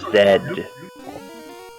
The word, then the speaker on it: Z: It's pronounced Zed.